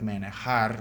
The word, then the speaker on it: manejar: Oh my God, I remember when someone pronounces it, it sounds like manejar, man in a car.